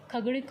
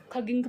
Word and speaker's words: खगिंक: और जबकि जो खगड़िक होता था sorry it's नॉट खगड़िक, इट्स नॉट हाउ it pronounce. सो इस खगिंक पढ़ते हैं इसको, गलती से मैंने पढ़ लिया।